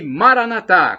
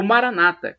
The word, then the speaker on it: Maranatha: onipotente Deus todo-poderoso acredite Creia ele proverá e Maranatha como dizem os cartões com a tônica na última sílaba o Maranata como dizem os evangélicos ou protestantes com a